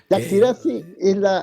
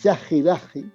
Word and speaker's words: Chaxiraxi: querida Chaxiraxi, que Yaxirazi es como ahora se pronuncia, ¿no? sí, no, Pero en realidad, siendo Chagiraji, riguroso desde el punto sí, de vista fonético, es Chagiraji, Chagiraji, que sí.